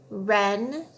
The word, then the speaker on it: wren: Remember when W is followed by R, the W is silent. So we just hear the sound. Ready? Wren, wrap, wreck.